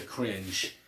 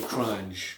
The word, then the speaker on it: The Crunge: But the only song I really didn't care much for is The Cringe, or The Crunge, right?